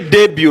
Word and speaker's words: debut: We say debut, right? So the T is silent.